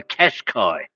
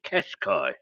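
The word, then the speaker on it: Qashqai: niss we got the cash Kai and and it's spelled with q's but not with a u so it's just cash Kai and I don't even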